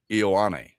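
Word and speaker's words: Ioane: Ola Vaia Ion. Uh Penn State. Ian is how you say his name.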